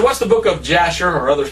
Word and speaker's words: Jasher: I said, what's the book of Jasher? Or others pronounce it Hasher.